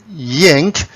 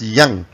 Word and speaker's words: yang: people produce it at yank it's up to you but in the original chinese pronunciation it's pronounced as yang and each section we